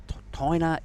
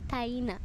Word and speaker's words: Taina: The first name was interesting. It's actually Taina. Taina.